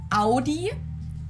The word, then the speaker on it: Audi: just said it AI in German we say Audi Audi and there's actually a funny story as